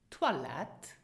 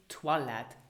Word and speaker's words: Toilette: Toilette. Toilette. So don't say toilet. We don't say toilet. We say toilette, as in French.